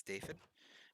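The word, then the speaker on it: Dafydd: necessarily mind, is because DAFFYD is the Welsh spelling of David, and it's just pronounced David. Sometimes people might say it like with the F's, which is David, but it's still pretty similar either way.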